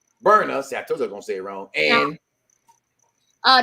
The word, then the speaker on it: Berna: I can't pronounce her name. I keep getting mad. I'm not gonna say it wrong. It's Berna. Berna.